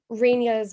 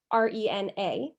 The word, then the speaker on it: Renia: might notice that on Renia's book, that her name is spelled R-E-N-A, like Rena, and she is also called Rena in many places, whereas we call her Renia.